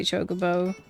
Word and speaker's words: chocobo: I hate how they say chocobo.